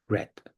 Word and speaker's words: read: The pronunciation is different. Spelling is the same.